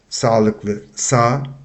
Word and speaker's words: sağlıklı: Siz sağlıklı, meaning healthy, sağlıklı, sağlıklı. We don't pronounce the G with the tail on top. We just pronounce the vowel before that, sa, not sag.